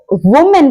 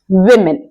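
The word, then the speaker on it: women: कि औरत या महिला अब अगर आप इसको वुमेन कहते हैं तो ये बिल्कुल गलत है क्योंकि इसका सही प्रोनंसिएशन होता है मेमन जी आप वू नहीं बोलेंगे आप वी बोलेंगे तो ये वुमेन नहीं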